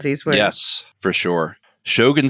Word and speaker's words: Shogun: want to emphasize that and in Japanese it's supposed to be very even or you know Shogun like it's it's one sort of flowing thing it's so different to